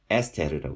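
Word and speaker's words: אסתר: 히브리어로는 에스테르라고 있습니다. 에스테르라고 있는데 이거는 에 발음이 들어가는 경우가 되겠죠. 뭐 아스타르 이렇게도 뭐 아스타르, 아스테르 뭐 여러 가지로 시도를 해볼 수가 있겠지만 일단 이 발음은 에스테르가 됩니다.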